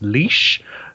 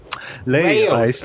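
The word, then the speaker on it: Laios: up every time because I keep thinking it's Laois, which is a county in Ireland. Because it's almost spelled the same, but it's no, it's Laos. Laos.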